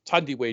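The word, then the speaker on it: Thandiwe: out one day going my proper name is tandy Way Newton because for all these years people have been saying my name wrong if you're in a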